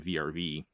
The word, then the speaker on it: VRV: So if anybody's not familiar with what VRV is, which I suspect a lot of people aren't, the VRV years are pronounced like Verve or something.